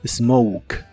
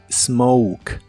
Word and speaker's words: smoke: en inglés es Smoke se pronuncia como si tuviera una u delante de la O Y recuerda que la